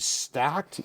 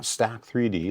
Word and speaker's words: Stack3D: And for those of you who don't know, man, this is the dude behind Stacked, not Stack3D like I say sometimes, but Stacked, spelled with a 3.